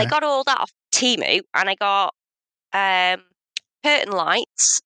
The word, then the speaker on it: Temu: You call it Temu?